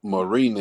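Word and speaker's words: Mariñez: fighting yeah that's what he's fighting uh jackson marina is that's how you say his name and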